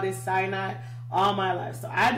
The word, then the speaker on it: Sinai: so have my husband, have called it Mount Sinai. But apparently, the correct pronunciation of this is Sinai. So, Moses went up Mount Sinai. It's going to be so hard. I'm sure I'm going to say Sinai in the future, so please forgive me when